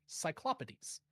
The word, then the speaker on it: cyclopes: Oh, by the way, Al, in case you're wondering, that is how you say Cyclops pluralized Greek cyclopes.